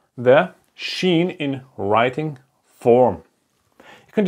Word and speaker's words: Shin: the material section so this is called the Sheen and how to pronounce it like in shy I'm shy okay it's the same pronunciation it's not so hard like the s h sound like in shy or the sun is shining okay and then there's uh